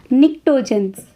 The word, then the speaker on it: pnictogens: Pnictogens. P-N-I-C-T-O G-E-N-S. P is silent here. You will pronounce it as what? Pnictogens.